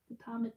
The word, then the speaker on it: Potomac: Potomac? Potomac, P-O-T-O.